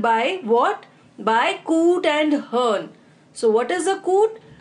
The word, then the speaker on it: hern: In order to create rhyme with फर्न.